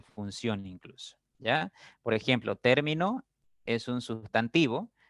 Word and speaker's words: término: Por ejemplo, en término, la sílaba fuerte o el acento recae en ter, ¿no?